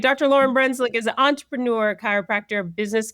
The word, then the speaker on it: Lauryn Brunclik: Lauren Brunswick on. Um, I'm going to You're the only person who's ever pronounced my name correctly in my introduction.